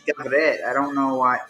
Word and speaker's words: גברת: Garbet? It's Gavret.